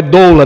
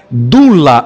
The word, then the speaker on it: doula: de partos na realidade até a palavra é pronunciada errada não é doula na língua grega dula ou dulos seria um escravo e